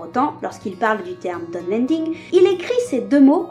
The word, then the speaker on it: Dunlending: Il faudrait donc les prononcer Dunland et Dunlending.